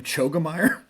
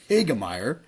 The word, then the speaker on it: Hoegemeyer: Chris Hoegemeyer was there, the one that I pronounced his name Chogemeyer last week. His name is actually Chris Hoegemeyer.